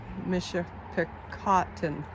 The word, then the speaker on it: Michipicoten: Bob, how do you pronounce the river again? Michipicoten.